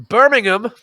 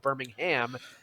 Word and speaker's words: Birmingham: to talk about in Birmingham England you have to say it that way or the Brits will throw rocks at you because it's not pronounced Birmingham as it is in Alabama like I know that